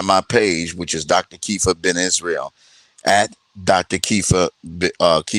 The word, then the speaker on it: Kepha: Kifa is spelled Kepha.